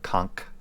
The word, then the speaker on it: Conch: I didn't include those, but of the more recent releases, the White Tiger, the Azure Dragon, and the Conch or Conch, if you want to pronounce it correctly.